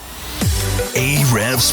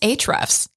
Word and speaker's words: Ahrefs: listening to hre's podcast aev's podcast um it's actually pronounced HRS oh sorry my bad